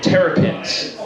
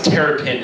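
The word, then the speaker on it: terpene: I'm probably pronouncing it wrong. I think it's terrapin is the way you pronounce it.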